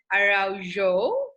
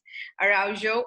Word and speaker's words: Araujo: And today I'm here with Michelle Araujo. Am I right in pronouncing Yes, your surname? All right. Araujo, all the way from London.